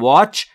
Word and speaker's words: watch: و باید توجه بفرمایید عزیزان که تی در watch ناخواناست و تلفظ نمیشه.